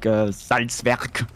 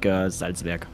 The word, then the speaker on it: Salzwerk: Well, if you would be like a German guy living in the Bavarian forest, you would probably say something like Salzwerk.